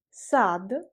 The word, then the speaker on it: сад: La préposition «в» est également employée avec les mots tels que parc, le parc, sad, sad, j'écris D à la fin mais je prononce comme T, sad, le jardin et les, c'est le bois ou la forêt.